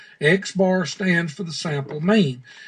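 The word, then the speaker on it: x̄: sample data it is represented by an x with a line across the top of it that is pronounced x bar x bar stands for the sample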